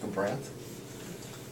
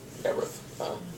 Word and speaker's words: Gabranth: I have to say Gabranth. Gabrith. Gabranth. Okay. I don't know. Gabrant, that's how you pronounce it. I've always called him Gabrith.